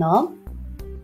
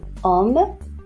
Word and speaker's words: homme: Un homme, un rhume, le chocolat, un chat gris et le sang.